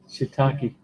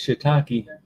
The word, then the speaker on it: shiitake: he loves the holy shitake pizza i almost mispronounced that shiitake you got to be careful check that out you got to be careful saying that because it may not come out as shitakey it sounded like uh with thailand regionally in